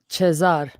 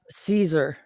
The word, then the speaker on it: Caesar: in the chat chazars that's what Caesar would be pronounced chesar not Caesar it would be literally